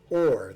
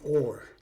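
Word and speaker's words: אור: The word light in Hebrew is or. That's O-H-R. And it is made up of 3 letters, Aleph, Vav, and Resh.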